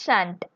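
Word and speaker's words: shan't: you can tell us shant s h a n apostrophe T shall not you can pronounce as shant s h a n apostrophe T I shall write to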